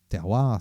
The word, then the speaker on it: TERWAR: w ar point ca terroir ça se prononce ce ca prononce en fait comme ça c'est la terminologie qu'on